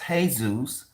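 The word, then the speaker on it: Jesús: Jesus it's not Jesus which is actually pronounced incorrectly if you're basing the off of what you think you're basing it off of is actually pronounced hey-zeus you accidentally hispanic that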